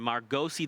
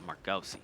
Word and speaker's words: Margosi: I actually had a chance to meet, well, when I interviewed him, I was like, is it Margos or Margosi? He said Margosi.